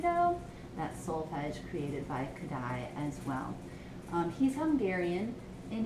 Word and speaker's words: Kodály: It's pronounced Kodály.